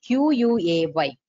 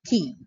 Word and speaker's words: quay: So the main features of the key wall is, and one more thing, the key wall means spelling is Q-U-A-Y, but we pronounce it as key, not quay.